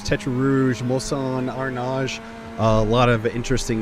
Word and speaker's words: Arnage: It's Arnage, I believe. Correct. To the 20th corner. See, I'm learning. I'm learning. It is a French circuit. So, some of these names, Tetra Rouge, Mosan, Arnage, a lot of interesting names here.